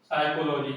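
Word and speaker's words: psychology: Pneumonia, P एन ई यू एम ओ, इसके बोलते हैं निमोनिया, इसमें पी क्या रहता है, साइलेंट। ठीक है ना, ये कॉल है तो मुझे याद आ गया, साइकोलॉजी क्या होता है, पी एस वाई सी, एच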